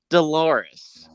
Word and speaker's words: Dolores: And one of them called out Dolores, as in it rhymes with clitoris thing.